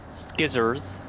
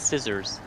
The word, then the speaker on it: scissors: Skizzers. You just don't say the C. It's scissors.